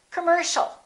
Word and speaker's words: commercial: final word once again the second syllable is stressed the o and the i a are both reduced so it's not calm or calm it's commercial don't say commercial or commercial it's all commercial all right let's practice